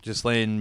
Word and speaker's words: Ghislaine: Is that how you pronounce it? Ghislaine, yeah.